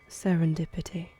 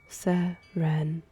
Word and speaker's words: serendipity: Serendipity. That's how you pronounce the word. Serendipity. You were very close, my sweet.